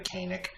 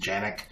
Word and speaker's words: Canik: going to review the Janek tp9 sa this weapon it's spelled CA ni ke a lot of people call it the Kanak the actual turkish pronunciation is Janek and that is as